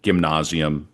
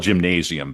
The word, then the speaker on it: Gymnasium: It's spelled gymnasium, but it's not like a Yeah. gym.